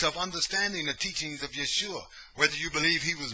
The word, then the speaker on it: Yeshua: who he was yeshua in the hebrew and it's felt like this it's spelled like that that's what the that's the aramaic okay in the hebrew in the hebrew pronunciation would be yahushua okay but back then